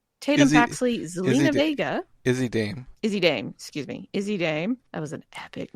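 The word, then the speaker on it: Izzi Dame: Kalani Jordan, Jada Parker, Lola Vice, Lash Legend, Izami Dame, Tatum Paxley, Zelina Vega. Izzy Dame. That was an epic mispronunciation.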